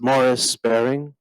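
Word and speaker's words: Maurice Baring: third gentleman is it's it's Maurice bearing sometimes pronounced Morris bearing I don't know how he pronounced it I never heard him say it but uh he was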